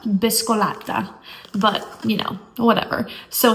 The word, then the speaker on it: Biscolata: So, I always like want to say it in like the most American version like biscolada, but it's not said like that. Biscolata.